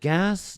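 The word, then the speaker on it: GaaS: We pronounce it GAS, G-A-A-S, Globalization as a Service.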